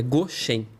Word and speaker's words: Goshen: É Goshen, é Goshen, né? Uma entonação ali no Shen.